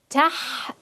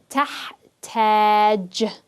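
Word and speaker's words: تحتاج: Tahtaj. Remember, the fatha is just the shortened version of the alif, the long vowel alif. Tahtaj.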